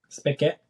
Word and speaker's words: spigot: Spigot. Spell it. Spicket.